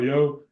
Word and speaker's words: Yeoh: How do you say it, Colton? I think it's Yo. Okay. Michelle Yeoh. Yeah. I think it's like Yo.